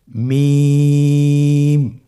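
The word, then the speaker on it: ميم: মিম হরফটি উচ্চারণের ক্ষেত্রে অবশ্যই বারিক হবে, পাতলা হবে এবং 3 আলিফ টেনে উচ্চারণ করতে হবে। আমার সাথে আরেকবার চেষ্টা করুন। মিম।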